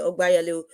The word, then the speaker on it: Ogbeyalu: Thank you so much there, Ogbeyalu. Am I pronouncing that well? Ogbeyalu. Yeah, Obeyalu Is is it fine.